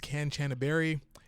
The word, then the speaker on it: Kanchanaburi: The name of the city is Kanchanaburi. At various points through this video, I am going to mispronounce it live.